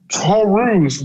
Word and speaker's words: Taurus: with this guy um first his name torus was how his name was pronounced but his name is pronoun is spelled taurus first problematic with that